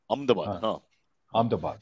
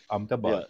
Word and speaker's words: Ahmedabad: And, let me pronounce it properly. Ahmedabad. Ahmedabad, yes.